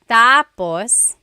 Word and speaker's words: tapos: of the phrase so when it's when the emphasis is at the end that means finished when the emphasis is on the first syllable tapos then it means next interesting there very interesting